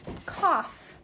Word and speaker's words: cough: Next is the word cough. Cough. Now here we have it making a different sound. Cough. 3, 2, 1, 0. Here we have k, ah. So we have to remember